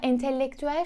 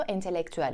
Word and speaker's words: entelektüel: bir kelime yer verelim Şimdi de entelektüel genellikle günlük hayatta entelektüel şeklinde özellikle 2 bu vurgu yaparak okunduğunu söylendiğini duyuyoruz Ama bu kesinlikle yanlış doğrusu entelektüel olacak bak 14.